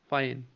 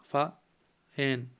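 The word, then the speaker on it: Fa Hien: फाइन, फा हैन, ठीक है, एच इसमें साइलेंट रख सकता है, फाइन।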